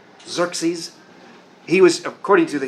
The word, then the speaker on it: Xerxes: The general Xerxes, great name, spelled with an X. Xerxes.